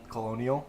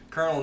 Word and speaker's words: colonel: I was about to say Colonial because that's how it's spelled. Colonel Nicholas J.